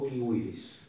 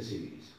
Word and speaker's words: civilis: yuris civilis o kwiis la c en latín para el que le interese se pronuncia como una k y la b corta como una u por eso es que siis en realidad esis Pero no importa está bien si dicen civilis Corpus que es código